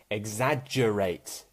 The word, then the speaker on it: exaggerate: So for when G is pronounced as J, for example, exaggerate. Exaggerate.